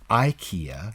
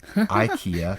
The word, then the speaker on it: IKEA: right right it's well there are different ways uh actually i pronounce it ikea ikea i will know what